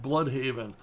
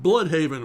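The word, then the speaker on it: Blüdhaven: And Scott would delight in pronouncing the name Bloodhaven, which he would do in this faux Swedish accent. So it was never, oh yeah, and then Nightwing goes to Bloodhaven.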